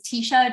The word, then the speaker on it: Teisha: me on your podcast so my name is Tisha often mispronounced just because of how it's spelled um